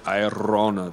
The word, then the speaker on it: Aerona: Well, they pronounced it Irona then, back before the elves brought peace and men were just warring tribes.